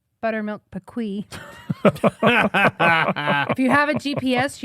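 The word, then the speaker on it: PKWY: PK W oh sorry PK Wy pronounced pequ so when Garmin or or Ram mcnell would talk to you exit at Buttermilk pequ I don't know what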